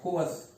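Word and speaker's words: coerce: और कोअस, COERC, कोअस का मतलब होता है टू फोर्स, किसी को मजबूर करना, कोअस। क्लियर है? प्रोनाउंसिएशन ध्यान रखना, COERC है, कोअस इसको बोलते हैं।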